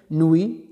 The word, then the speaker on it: nuit: Nuit, donc c'est T.